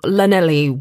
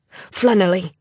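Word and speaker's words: Llanelli: Mr Owen Thomas from Lenell Wales he pronounced it with an l sound as in love flenn Owen corrected automatically and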